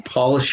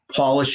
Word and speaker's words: Polish: Job, polish, and herb are all pronounced different when the first letter is capitalized, because now you're Job, Polish, and herb.